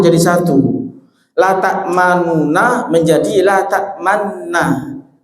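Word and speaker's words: لَا تَأْمَنَّا: La ta'manuna menjadi la ta'manna. Tapi cara bacanya begini, mohon diperhatikan nih. La ta'manna, ada gunahnya. Di sela-sela gunah itu monjongkan bibir, ya.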